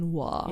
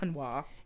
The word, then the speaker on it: Harnois: It's very French. Very. It's spelled like Harnois. Yeah, so that's super but it's got to be French. Hanwha. Yeah, Hanwha.